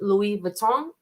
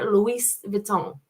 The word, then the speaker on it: Louis Vuitton: obviously hear it pronounced Louis Vuitton and then I did hear Luis Vuitton so um I'm gonna stick with I'm gonna stick with the Louie but I did hear the Louise um let's see what